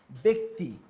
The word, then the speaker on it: ব্যক্তি: জফলা জফলার পর ই ধ্বনি থাকলে জ ফলার উচ্চারণ এ হয় যেমন ব্যক্তি জফলা পর কি আছে আমার ই ধনি রস